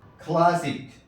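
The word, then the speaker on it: classic: کے ہے۔ نمبر 4، اگر سی کسی لفظ کے اخیر میں ہو تو سی کا تلفظ ہمیشہ کاف سے ہوتا ہے۔ سی کسی لفظ کے اخیر میں آئے تو ایسی صورت میں سی کا تلفظ ہمیشہ کاف سے ہوتا ہے، جیسے کلاسک، کلاسک۔ دیکھیے یہاں سی آخر میں آیا ہے۔ اسی طرح میوزک،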